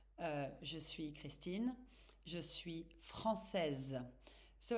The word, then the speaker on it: française: But to say it correctly, I'm saying that you really have to stress on the last letters. Je suis française.